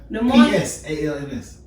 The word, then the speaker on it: Psalms: The P is silent. Yeah, it's not silent. The silent letters are trash me. I say Palms. But you make an S silent. How you spell it? P-S-A-L-M-S. So you making an S sound.